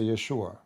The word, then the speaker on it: Yeshua: By the way, nowhere in the Quran mention the word Jesus, just take a note. And the correct way to say the word, actually, to say Yeshua. Yeshua or Yeshua. Not even Jesus in English.